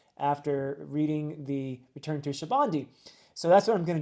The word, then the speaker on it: Sabaody: And I will be reading the Return to, now I'm going to say it Shabandi, and I know every time I say Shabandi, I get comments saying, no, it's Sabaody or it's something else.